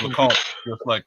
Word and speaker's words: LeComte: Hey, Grant, yeah, so I pronounced it the right way the first time. So it's LeComte, just like I thought. So that is, yeah, that's it. French Canadian French, nonetheless.